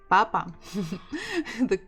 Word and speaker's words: Папа: So the stress is on the first syllable. Papa. Actually, if you stress the second one, it will sound papa. More like French manner.